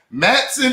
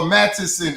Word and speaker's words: Matteson: Matson, Illinois, or Matteson, Illinois? Matson. There we go. Matson. The E is silent, goddamn. Yeah, then people talking about Matteson. Bro, that's not it. It's not that long. It's just Matson.